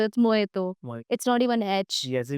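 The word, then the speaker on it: mojito: Next जो बहुत ही famous drink होता है मोजिटो। मोहितो। सो इट्स मोइतो।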